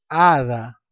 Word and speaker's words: hada: La hada, por más que el sustantivo hada esté empezando con la grafía H, esta al no tener una pronunciación hace que la A sea concentre la sílaba tónica. Entonces, hada se separan dos sílabas y A es la sílaba tónica.